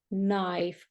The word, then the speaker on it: knife: We do not pronounce K before N, knee. That's the same. Knife, for example.